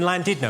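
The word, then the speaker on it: Llandudno: Well, how's it pronounced? I was in North Wales uh last year. It was in Landidno.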